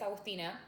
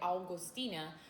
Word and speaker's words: Agustina: Por ejemplo, mi nombre es Agustina y todo el mundo lo relaciona con el mes agosto, que se dice August. Entonces, mucha gente me va a pronunciar mi nombre Augustina.